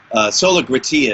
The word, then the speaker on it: Sola Gratia: Like tomorrow, Sola Gratia is the way I'm pronouncing it. Oh, Gratia. Sorry about that. No, that's okay. I mean, I think that it can be pronounced in different ways in different languages, so it's okay.